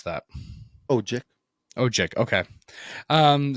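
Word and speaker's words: Odjick: B Gino OIC o OIC how do you pronounce that oji oji okay um c g butcher or D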